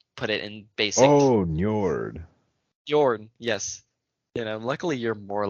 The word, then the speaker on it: Njord: Ninor. Ninor. He's like the Poseidon, if you want to put it in basic. Oh, Njord. Bjorn, yes. Luckily you're more linguistic than I am because I cannot pronounce a lot of these things, man.